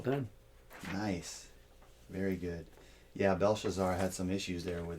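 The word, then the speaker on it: Belshazzar: a minute you see I'm saying it wrong no you're correct it's Bel shazar CU I'm you know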